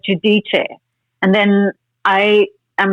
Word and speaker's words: Giudice: On the show, they say Giudice. I keep saying Guidice. I said Guidice for the longest time. Then I did like a Google like pronunciation thing, and I got Giudice.